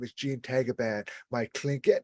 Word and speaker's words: Tagaban: My last name, Tagaban. In the Philippines, it's pronounced as Tagaban.